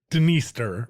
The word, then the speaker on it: Dniester: And Dniester, I love a river with a silent D. This has a silent D at the tri, right? You might want to pronounce this the Dniester River, but the D is silent.